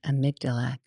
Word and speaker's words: amygdala: It's like Amy and then a G and then Dala.